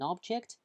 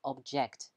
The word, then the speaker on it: object: Pay attention to pronunciation. This is an object, okay, when you see this word, you say, okay, this is an object, yeah, but when you have it as a verb, that's object, okay, object.